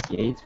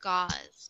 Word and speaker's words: gauze: Okay, can you cut this gauze for me? Bandage scissors. Yeah, very good. And this one is pronounced like gauze.